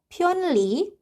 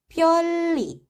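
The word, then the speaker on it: 편리: Kemudian yang kedua ada kata pyeonli, 받침 nian ketemu dengan huruf real. Jadi kita bacanya pyeolli. Huruf niannya berubah menjadi huruf real. Jadinya pyeolli.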